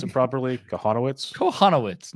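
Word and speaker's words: Kochanowicz: you're starting Angels your boy how do you pronounce it properly konowitz konowitz not not cocoz I always call I always call himo yeah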